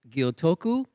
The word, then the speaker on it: Gyotoku: I'm joined by Nate Gyotoku. Perfect. Was that good pronunciation?